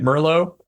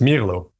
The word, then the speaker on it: Mirlo: all been calling it Mero like the wine but apparently because it is based on the Spanish word for Blackbird it is Milo so we're wrong but